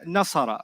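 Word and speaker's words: نصر: I said nasara, right? You know what syllables are?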